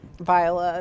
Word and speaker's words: Viola: bad because we love viola viola that's how she pronounces her name because i listened to the audiobook because she read it um viola is how she says it so um but